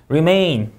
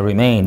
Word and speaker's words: remain: remain, 자, remain 이 음절 강세.